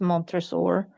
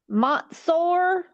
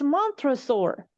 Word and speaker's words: Montresor: and she mispronounced Montresor's name. She made it like Montsor, Montsor, and I was like, what the hell are you saying?